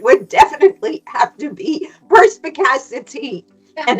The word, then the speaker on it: perspicacity: I'm sure we're going to discuss more about perspicacity.